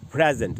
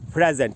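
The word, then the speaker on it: present: pronunciation बताता हूं तो जब ये नाउन और एडजेक्टिव की तरह यूज होगा तब इसका उच्चारण होगा प्रेजेंट देखिए प्र है ज है आधा न है और ट है प्रेजेंट और प्रे में जो अ है वहीं पर स्ट्रेस है वहीं पर ज्यादा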